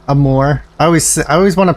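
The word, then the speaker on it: Amur: Skullwolf, I have it on PlayStation playing Amir. Amor. I always want to pronounce it Amir for some reason, but I know it's Amor.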